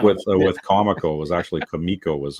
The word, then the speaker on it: Comico: Maybe like with with Comico was actually Kamiko was how they wanted to pronounce it even though everyone called it Comico, right?